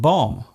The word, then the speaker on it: bomb: For example, the B in comb, womb, and bomb. There is only one letter change between these words, yet they are pronounced differently.